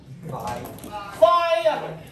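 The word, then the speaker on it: phi: 有没有人会念？Fire，对不对？Diameter。diameter 就是要做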